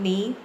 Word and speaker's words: knee: In the next one, knee. The K is silent.